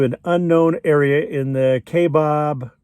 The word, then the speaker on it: Kaibab: unknown area in the K Bob k-bab however you want to pronounce it kbab national forest